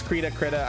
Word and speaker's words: Krita: I don't know how to pronounce that app. It's Krita.